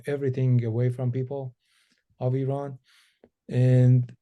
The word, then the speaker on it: Iran: Well, we pronounce it Iran. It's not Iran. It's Iran.